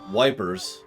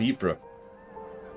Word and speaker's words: Ypres: Dubbed Wipers by British troops due to its difficult pronunciation. The Belgian town of Ypres was a key strategic position during the war.